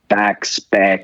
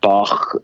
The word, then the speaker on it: Bacs: And my last name, because the CS in Hungarian is pronounced like ch, as in chewing, with a long, light A. And then it got Bacs, Bach, like the composer.